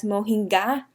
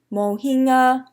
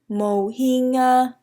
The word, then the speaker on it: mohinga: To properly pronounce it in Burmese, you would say mohinga, mohinga. So you wouldn't pronounce the G at all. The G is silent, mohinga.